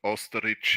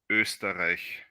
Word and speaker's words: Österreich: First of all, my country is not called Österreich. It's not called Österreich. Sorry, that's all I know. It's International Stack always calls it Österreich. The right pronunciation is Österreich. Österreich. In the beginning it's a Ö, and in the end it's a Österreich.